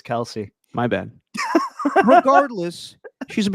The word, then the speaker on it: Kelsey: on you Darren Waller Chelsea Plum's a beautiful woman Derek did I did I get her name wrong yes dude what is it Kelsey Kelsey it's not Chelsea it's Kelsey my bad regardless she's